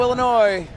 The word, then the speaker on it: Illinois: prop out of Chicago Illinois and yes the S is silent at the end of Illinois number seven going for